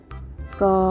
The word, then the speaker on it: ก็: จะ กด ว่า ก ก็ ไม่ โทร อ่าน ว่า ก็ เด็ก ๆ อาจ จะ สงสัย นะ คะ ว่า ทำไม คำ ว่า ก็ ถึง สะกด แบบ นี้